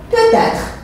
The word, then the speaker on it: peut-être: Quand je ne suis pas sûr, je dis peut-être. Et vous voyez, vous entendez la liaison peut-être. Ça veut dire peut s'écrit avec un T. J'ai fait ici la liaison.